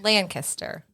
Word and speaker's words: Lancaster: yeah exactly exactly I learned that really quick lanaster lanaster yeah so there's there's Lancaster where I'm